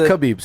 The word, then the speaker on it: Khabib: But I mean, and it's Khabib, not Khabib. No, but I mean, that's I thought it was Khabib. No, it's Khabib. In America, it's Khabib. Yeah, so the K is silent.